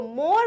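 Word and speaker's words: more: Okay, तो मोर में ई कहीं सुनाई नहीं देता, राइट।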